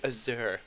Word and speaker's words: azure: I don't know why, I always want to say Azure, but, You have a habit of putting the wrong emphasis on the wrong syllable.